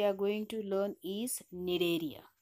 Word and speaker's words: Cnidaria: Next phylum we are going to learn is Cnidaria. In this spelling the C is silent.